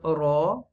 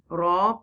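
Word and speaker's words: ر: If the letter Ra has a zabar or pesh, it is pronounced deeply.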